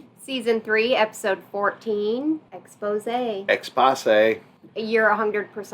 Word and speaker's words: Exposé: and watching lost season three episode 14 expose expose you're 100 correct on that pronunciation yes i'm not even going to argue